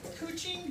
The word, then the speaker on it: couching: do that right here this is called Kuching but it's spelled couching watch and so you